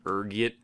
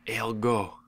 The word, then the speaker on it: ergot: There's a few different ways you can pronounce it depending on your social standing, ranging from ergot to elgo. Being the disheveled pauper I am, I prefer ergot.